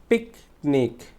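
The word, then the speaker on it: picnic: পিক শব্দটা হচ্ছে trace syllable, এটাকে আমরা কি জোরে উচ্চারণ করবো, পিকনিক, পিকনিক, পিকনিক, ঠিক আছে।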